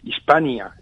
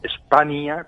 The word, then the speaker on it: España: en plena época goda, no se pronuncia Hispania, aunque se escribiera a veces, sino que es más bien España, pero una España que es España. Se pronunciaba casi con esa ñ, así que el nombre pues ya existía.